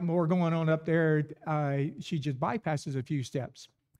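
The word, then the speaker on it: אִישׁ: up a blonde brunette uh man uh is pronounced ish and the woman ishal uh basically the man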